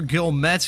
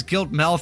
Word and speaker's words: Gilmet: And that was Tyler Gilmet, who I've been pronouncing as Giltmel throughout the entirety of this race.